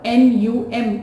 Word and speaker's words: numb: it is if the n-u-m is the word now for few seconds I could not feel my numb thumb right num so it is not numb it is num okay next one notorious